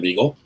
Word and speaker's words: Beagle: my real name is beagle it's pronounced like the dog if you need to